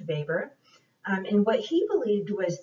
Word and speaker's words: Weber: talk about is max vapor it's a german name so it's spelled weber but it's pronounced weber and what he believed